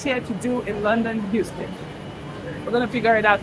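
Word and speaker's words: Euston: I thought it sounded like Houston, Texas, but it's not. It's, you see that? E-U-S-T-O-N. But when it's pronounced, it's pronounced like Houston.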